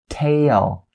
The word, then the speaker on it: tail: these words is different so the a sound entail make sure you say take a and then o o for the l sound at the end and you'll have tail tail tail as opposed to you go directly into te te and then the elsa when you say the word tell so keep in mind the